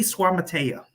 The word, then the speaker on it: Suamataia: But Kingsley Suamataia, that's his name.